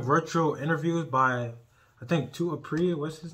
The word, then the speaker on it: Apree: Today's video, we're going to be reacting to eating during virtual interviews by, I think, Apree. What's his name? His name is, Apree. I said it right.